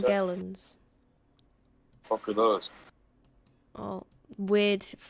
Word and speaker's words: Morgellons: What are Morgellons? How do you pronounce that? Morgellons.